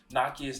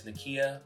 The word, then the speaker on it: Nakia: my episode 2 recap i mispronounced nakia's name as nakia when it is pronounced nakia i apologize for that